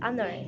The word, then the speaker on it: honor: The first letter of the word honor, for example, is a consonant, but it's a non-pronounced. In spite of its spelling, the word honor begins with a vowel sound.